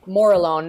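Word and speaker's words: Morillon: for chardonay so I've say that again and spell it for me Mor alone is a m o r i l l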